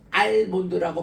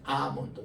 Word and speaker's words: 아몬드: 어 나이 드신 분들 그거 간식으로 만 먹습니다.이 아몬드이 아몬드가 A할 때 요게 무음이 돼 가지고 알몬드라고 발음하는 사람 좀 무식한 사람이에요.이 엘은 무음이에요. 그냥 아 긴 발음이에요. 아몬드 따라합시다.